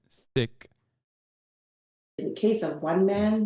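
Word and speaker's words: Sikh: really care okay but that is how you're supposed to say it in the language that's how you say it sick the case of one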